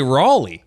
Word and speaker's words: Raleigh: saying words wrong oh it's not R never r r you lived in America the first two letters r a why is it so obscene that I pronounce it Ray because you lived in America and not in R they actually say Raley okay I've never been